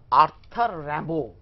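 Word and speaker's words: Arthur Rimbaud: করে slip in the valley এইটার এইটা লিখেছেন আর্থার র‍্যাম্বো ঠিক আছে একচুয়ালি এর বানানটা এ আর টি এইচ ইউ আর আর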